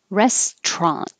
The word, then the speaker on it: restaurant: here is ah passion restaurant this is kind of weird because the t well we pushed together we dropped the middle syllable completely so it's not restaurant but push it together and now the t